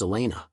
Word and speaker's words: Elena: The old bat's name was Elena, pronounced to rhyme with cleaner, which was an irony that Dirk now no longer relished into opening the fridge door.